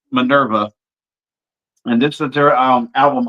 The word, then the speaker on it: MNRVA: I'm just going to spell it MNRVA. I'm assuming that's pronounced Minerva.